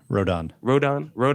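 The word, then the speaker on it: Rodón: How do you pronounce it? Rodon.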